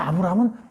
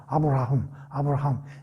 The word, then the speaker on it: 아브라함: 아브라함. 이게 이제 히브리 말이잖아요. 여기에 이제 이 H 또는 이 히읗자. 이게 이제 우리가 이제 뭐 히브리 말을 공부하는 건 아니지만 약간 콧소리 비슷하게 들리잖아. 아브라함.